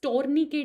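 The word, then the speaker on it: tourniquet: होता है that is टोरनी के टेस्ट टोरनी के टेस्ट ये लास्ट वाला टी प्रोनाउंस नहीं करते ठीक है टोरनी के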